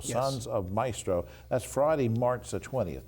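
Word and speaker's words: Mystro: Now, Sons of Maestro, and this is spelled M-Y-S-T-R-O, Yes. Sons of Maestro.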